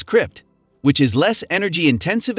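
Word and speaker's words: scrypt: lady coheng uses a different proof-of-work consensus mechanism than Bitcoin called Script pronounced as Crypt Which is less energy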